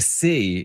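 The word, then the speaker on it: Sy: Now he's been in the States playing, but Isaiah C is a newcomer from Oregon State. His last name is S-Y, but it's pronounced C.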